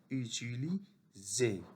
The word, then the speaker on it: utiliser: S entre deux voyelles se prononce Z. Et ER se prononce E. Utiliser.